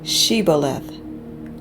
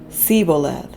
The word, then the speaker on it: Shibboleth: When he said no, they said to him, "Then say Shibboleth." And he said Siboleth, for he could not pronounce it right.